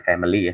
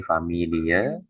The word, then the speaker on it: Familie: Nah, ini jangan dibaca family ya, tapi familie, roinde, naturalis, bit dangke